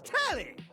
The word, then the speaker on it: Telly: The name's Telly. Rhymes with Nelly.